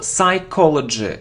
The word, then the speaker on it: psychology: psychology it isn't psychology no we don't pronounce P so psychology psychology of dumb brands